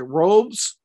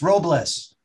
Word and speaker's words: Robles: name so is it is it robes it's robles robles i apologize okay so